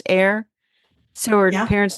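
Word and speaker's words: Eyre: Jane air fryer and her maiden name was e a y r e which I'm assuming is pronounced air so her parents name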